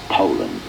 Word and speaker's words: Poulan: for over 30 years they've been mispronouncing our names H so we'd like to remind you that our name is Poland and for a tough